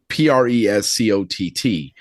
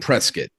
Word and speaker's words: Prescott: And you know, some people will say Prescott. That's exactly how it's how it's spelled. Yeah. Right. But the the natives will call it prescuit. Okay. You know, so if you call it Prescott, people instantly know you're you know, you're you're not from not from Arizona or whatever.